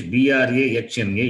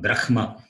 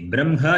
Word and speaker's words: Brahma: Because it is written in English B-R-A-H-M-A, it is not Brahma. That is wrong. You can pronounce it as B-R-A-M-H-A. Brahma you can pronounce. Nothing wrong. That also, as I said, the Vedic chanters, they pronounce it as Brahma. That B-R-A-M-M-A only they pronounce.